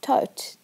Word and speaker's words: Thoth: Some people pronounce his name as Tot. It was believed that Thoth gave doctors their ability to cure people, so doctors wanted to keep him happy.